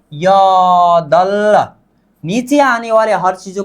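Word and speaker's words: 여덟: अब र और ब नीचे आने पर उच्चारण किसका होता था, ल का होता था, यदल। नीचे आने वाले हर चीजों का उच्चारण आधा किया जाता है बल, इसका उच्चारण क्या होगा, अब यदल होगा, क्या, यदल।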